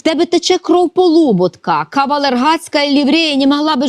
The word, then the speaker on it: Полуботка: чому вона апелює до Полуботка наголос саме такий правильний Хоч він комусь може здаватися дивним тому що його прадід